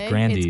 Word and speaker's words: Grande: Apparently, her name is not pronounced Grande. It's Grandy.